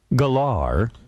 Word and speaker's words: Gellar: Sarah Michelle Gellar, not Geller.